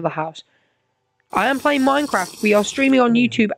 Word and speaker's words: Minecraft: for YouTube apparently Mincraft minkroft is that how you is that how you say it Germany no we just say it like uh English dude from Minecraft but we have a German